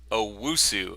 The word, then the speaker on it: Owusu: Owusu. And am I pronouncing that Yeah, correctly? yeah, Yes. you're right.